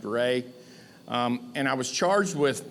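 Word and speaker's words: Reaugh: R-E-A-U-G-H is pronounced Ray.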